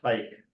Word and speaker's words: HEIC: HIC, I think it's pronounced hike.